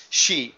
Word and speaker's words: Xi: and the visit by President shei um that's how you pronounce XI like he she it she president she um and